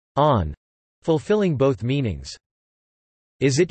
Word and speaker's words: ann: This is due to the Irish word an pronounced o-u-n or on, fulfilling both meanings.